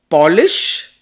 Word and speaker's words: Polish: It's the same word spelt the same way, pronounced differently.